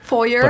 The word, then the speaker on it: foyer: how you say it the very american way of saying it is for your foyer in other parts of the english-speaking world they would say foyer okay in german we